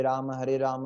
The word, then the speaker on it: राम: Neck straight, proper posture, remember posture is very important. Second thing is pronunciation, रामा नहीं है, राम नहीं है, राम राम राम, कृष्ण कृष्ण कृष्ण, कृष्णा नहीं है, कृष्ण और राम।